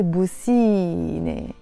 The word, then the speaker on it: بوسيني: But because you're adding the ni, ne in the end, you're not going to say بوسي, ne, no, you're going to say بوسيني. You start pronouncing the E, بوسيني.